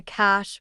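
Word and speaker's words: cache: We call it a cash, pronounced like cash.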